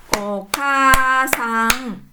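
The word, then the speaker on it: おかあさん: Nah, bunyi panjang untuk K ya bunyi a ini dituliskan dengan a desne ok sang ini menjadi ee lima bunyi ya. O kasang ya seperti itu nih okasang nih.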